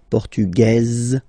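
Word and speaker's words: portugaise: don't pronounce the S feminine form portuges you pronounce this Z sound okay and then remember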